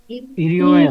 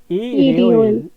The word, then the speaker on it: 일요일: ইরিওয়েল 이리오일. ইরিওয়েল ইরিওইল। ইরিওইল এই যে রিয়লটা এখানে চলে যাবে, তখন এখানে গেলে কি হবে? রিও। তো ইরিওইল।